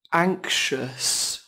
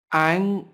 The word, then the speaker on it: anxious: Từ này có hai âm tiết, trọng âm rơi vào âm tiết đầu tiên các bạn nhé. Các bạn lưu ý, âm tiết thứ hai bắt đầu bằng âm sh, sh.